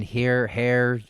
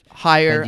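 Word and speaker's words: Hehir: Jason, do you know how to pronounce his last name? Jason Hare. Higher.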